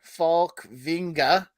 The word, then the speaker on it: Falkvinge: So Rick Falkvinge, or Falkvinga, as some people pronounce it, which is probably closer to how he actually pronounces it in Sweden.